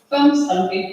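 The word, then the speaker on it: Hvammstangi: Greta lives in Wonstangi. Did I pronounce well? Really? Wonstangi, Yeah.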